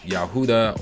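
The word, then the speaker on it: יהודה: say judah or jew in hebrew it would be pronounced yahudah or yahudim because the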